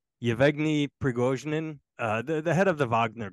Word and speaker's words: Yevgeny Prigozhin: I can't pronounce his name. Yevgeny Prigozhin, the head of the Wagner Group.